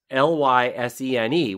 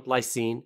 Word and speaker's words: Lysene: Noun, Lysene, adjective. Yes, I can see that. Although I might put an extra syllable on the end of Lysene. I might make that Lysene.